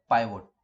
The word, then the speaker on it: pivot: आज मैं आप लोगों के लिए लेकर के आया हूँ फर्स्ट टाइम पाइवोट। पाइवोट को कुछ लोग पिवोट भी बोलते हैं। वो प्रोनाउंसिएशन का फर्क है और कोई फर्क नहीं है।